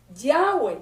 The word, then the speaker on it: Yahweh: Yo sé que hay muchas personas que lo pronuncian de otras maneras. No, eso no es el problema. Yo no tengo nunca problema con eso, ni esa es mi discusión, ni yo me voy a poner a demostrarles que se pronuncia Yahweh.